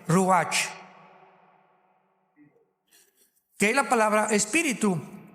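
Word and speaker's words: ruach: Apunten todos ustedes los que les interesa en su Biblia la palabra espíritu, que es la palabra se escribe ruash. R u a c h. Ruatch.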